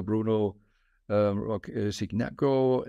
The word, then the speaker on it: Bruno Roque Cignacco: Bruno Roque Cignacco. I hope I pronounce it somehow right.